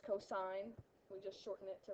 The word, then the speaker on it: cosine: really really annoys me when people say Co it's not Co it's cosine we just shorten it